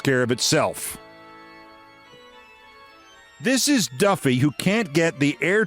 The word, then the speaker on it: Duffy: The bronze worst Sea, how's this pronounced? Doofy. Du FFY Duffy.